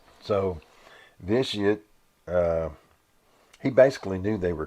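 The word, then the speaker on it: Vitiate: I'm trying to make sure I pronounce that right. Vitious.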